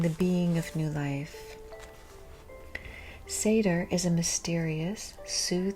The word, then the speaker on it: seidr: sorcery of seder oh here they show in parentheses phonetically how to say it and it's seder so apparently it's ignoring the rule of when two vowels go walking okay Seder practice